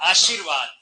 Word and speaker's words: आशीर्वाद: आशीर्वाद। देखिए अब इसका उच्चारण आशीर्वाद ऐसे आएगा। आशीर बोला पहले जाता, लिखा आगे।